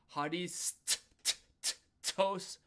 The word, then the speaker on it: ハリストス: Harisut tosu fukatsu And the reason why we didn't pronounce the final one as strong or we you you can pronounce it, but you don't really need to. Um is because it's the end of the word. So we don't really need to worry about hitting those u's.